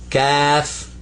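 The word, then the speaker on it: كاف: in english say k now say calf let me hear you calf calf not like the kaffir your leg this is just k a f calf calf got it all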